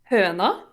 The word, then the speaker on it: Høna: How you doing, Høna? I am mispronouncing that, by the way. I already know because it's Norwegian, Hello. right? Yes. So how do you pronounce it perfectly? Høna.